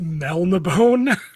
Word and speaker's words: Melniboné: You pronounce it Melnibone.